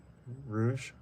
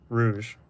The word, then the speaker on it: rouge: Uh, it's not rogue. It's rou. How do I say it? Rouge. Rouge. Like lipstick and rouge. Like the makeup color.